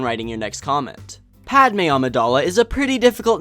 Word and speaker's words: Amidala: accented e is necessary her last name is pronounced Amidala am i da la Jabba the Hutt is